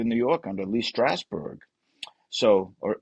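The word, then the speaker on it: Strasberg: Uh, cuz Renee was a member of the Actor Studio in New York under Lee Straber. So, or Strawber, sorry, I want to say that name wrong.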